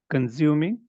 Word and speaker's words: consuming: Consuming. Perfect. But when you were speaking, you had a Z sound.